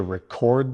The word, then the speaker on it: record: The main rule to remember is, for the noun form, stress the first part. For the verb form, stress the second part.